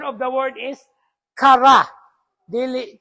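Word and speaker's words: χαρά: chara char po kaayo so that is the pronunciation of the word is kara dili chara no that is also where we get caris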